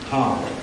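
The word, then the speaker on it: Hau: and by the way the word how is not like how are you h w it's spelled ha Au U and it's a totally different thing when we say how it's not a question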